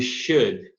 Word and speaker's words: should: We should, lembrando, essa combinação O-U-L não é pronunciada com L. Should, não should.